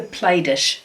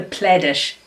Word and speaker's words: Plaidish: uh this quilt here is called well the play dish too the plaidish too how do you pronounce it p-l-a-i-d plaid ish two quilt uh